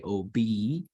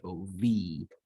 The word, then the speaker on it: Obi-Wan: So in English, we could say OB, right? But in Hebrew, because this bet is not the first one in the syllable, it loses its dagesh and it gets pronounced as OV. Ovi-Wan, right?